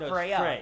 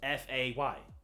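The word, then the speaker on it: Faye: __ ] to him Freya it's not Freya it's Frey how do you spell that I think it's the same way just SP the a at the end no it's Fay f a y Fay technically her name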